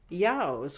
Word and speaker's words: ewes: And it rhymes with yows, which is how the Scots pronounce the word EWES, ewes, or lady sheep.